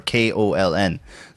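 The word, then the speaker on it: Köln: to be honest because it's not it's not actually Cologne in German it's like colon or something like that seat or koln not a rolling :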